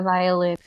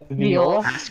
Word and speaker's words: viol: It's like a violin, but I know what it is. I just can't figure out how to pronounce it. Viol. It is viol.